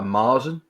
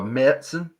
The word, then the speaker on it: Märzen: Or a Marzen or a Märzen. You're supposed to pronounce it, apparently.